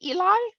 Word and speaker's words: ELI: how you say it Eli Jane yes Eli talk I wasn't sure if it was Ali or Eli talk on the um on